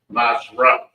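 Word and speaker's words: מעשר: You can find this in Numbers 18:21 and Malachi 3:10 means 10th in the Hebrew and is pronounced Mashrah.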